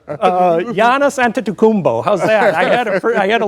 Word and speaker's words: Giannis Antetokounmpo: Giannis Antetokounmpo, how's that? I had to learn how to pronounce that.